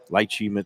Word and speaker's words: lychee: And the vodka, the martini varieties, you had the lychee. What is it? The lychee. I never know lychee. how to pronounce It's a that. lychee martini. Yeah. Lychee, like a leech on me.